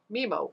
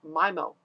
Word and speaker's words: MIMO: to a technology called memo or mimo whichever way you prefer to pronounce it that means multiple in